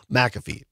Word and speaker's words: McAfee: Yes, it's Pat McAfee is the show on ESPN. That's the correct pronunciation.